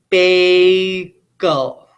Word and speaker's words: bagel: It's an open syllable vowel because the vowel is saying its name.